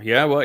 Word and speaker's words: Yahweh: Now, Yahweh is the proper pronunciation of Yahweh's name as Eloah, God, as instructed